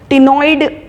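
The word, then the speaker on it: ctenoid: Last है इसमें टिनॉइड scale. टिनॉइड scale जो रहेगी, टिनोस का मतलब होता है कोम्ब, ठीक है। टिनॉइड सी साइलेंट होता है।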